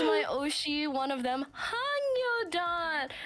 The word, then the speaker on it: Hangyodon: But this is my Oshi, one of them, Hangyodan. Pronounced Hangyodan, not to be confused with Hangyodong, or any other variant that some friends has called him.